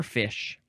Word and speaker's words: fiche: It is the word fiche or fish.